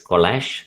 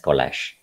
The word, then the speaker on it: collage: lag yes that is right it is kolash the kolasana kolasana kolasinac it is an art form okay it is an art form it is putting together different things is also different collag it's pronounced as collage okay the last point